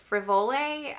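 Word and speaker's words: Frivole: for spring it's um called the jew contrast in the color frivoli i think that's how you pronounce it it's spelled f-r-i-v-o-l-e and so in the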